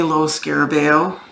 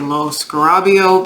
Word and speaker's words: Lo Scarabeo: And I don't say Lo Scarabeo like most people. I say Lo Scarabeo because I actually did a Google translate for spoken word, and that's how the gentleman pronounced it.